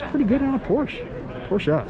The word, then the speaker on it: Porsche: Porsche, sorry. Porsche is definitely a two-syllable word.